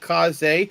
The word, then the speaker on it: Kaze: Yeah, it's originally I thought it was K's, but then I heard a review when the game first came out and pronouncing it Kaze, and the developers confirmed that is how it's pronounced. So Kaze in the Wild Mass.